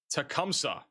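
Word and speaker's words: Tecumseh: Tecumsa is how you say it. Tas I can't say this name. Tacumsa.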